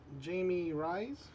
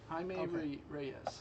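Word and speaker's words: Jaime Reyes: Jamie Rise. Himeme Ramirez. Reyes. That's it. Himeme Reyes.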